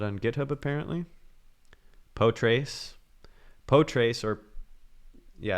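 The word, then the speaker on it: Potrace: on github apparently poetry poe trace or yeah i think it's pronounced poe trace is actually what uh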